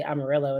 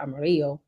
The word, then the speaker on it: Amarillo: in general and they have to say Amarillo instead of Amarillo, which is the correct pronunciation.